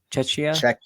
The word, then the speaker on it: Czechia: Czechia. I heard you trying to pronounce that last.